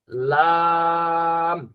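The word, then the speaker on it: لام: হ্যাঁ, এরপরে লাম, লাম। জিহ্বার আগা দুই দাঁতের, উপরের দুই দাঁতের উপরের দুই দাঁতের গোড়ার সাথে লাগবে, একটু কিনারের দিকে লাগবে।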